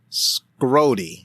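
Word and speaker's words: Schrody: before I started um his name is spelled s h r o d y so I'm thinking SE so that's like school so yeah that that's how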